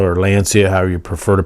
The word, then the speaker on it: Lancia: unfortunately it's with the Lancia or Lancia, however you prefer to pronounce it. In America here, a lot of people just say Lancia, but I think they say Lancia overseas.